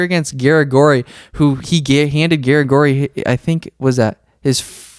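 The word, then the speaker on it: Garagorri: Yeah, Eduardo Garagori. Look at that. He lost 4 fights in a row to tough competition, but then he revived his career against Garagori, who he handed Garagori, I think, was that his second loss.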